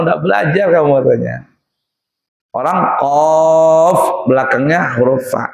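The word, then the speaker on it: ق: Orang qaf belakangnya huruf fa. Jangan mentang-mentang huruf qalqalah lalu qaq katanya. Bukan begitu cara bacanya. Qaf ya.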